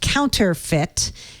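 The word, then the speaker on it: Counterfit: that they built called counter fit count like not spelled like counterfeit but counter like a counter and fit um it's not a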